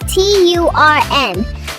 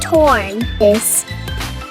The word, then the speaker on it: turn: How would you pronounce T-U-R-N? Some say it's pronounced torn.